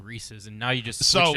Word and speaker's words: Reese's: It's about rhyming with the word pieces. Reese's Pieces. Reese's Pieces. Reese's Pieces. Whatever. Right, yeah, exactly. Yeah, exactly. It's not Reese's Feces, which would be the way that it would rhyme the other way.